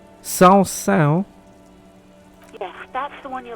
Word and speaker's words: Saint-Saëns: Was I singing the smallest church in Saint-Saëns? Then I'm not sure if I'm pronouncing it right. Saint-Saëns?